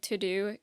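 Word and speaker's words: TeuxDeux: will say my favorite website is called to do it's spelled t-e-u-x-d-e-u-x if you want to sponsor sponsor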